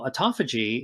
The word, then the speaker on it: autophagy: you spell it it's a-u-t-o like Otto phagy p-h-a-g-y and you know and and auto means self and feiji means eat and so autophagy is really just a